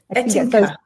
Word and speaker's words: Ettinka: Ettinka.